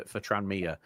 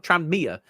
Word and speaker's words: Tranmere: So you don't read the N and the M kind of blur into one. Tranmere. Whereas you're saying Tranmere. It's like there's it's like there's a little gap between those two letters.